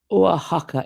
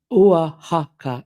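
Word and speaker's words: Oaxaca: Then it's care bear says the wife says Wahaka is correct. Wahaka is correct. She's a native speaker.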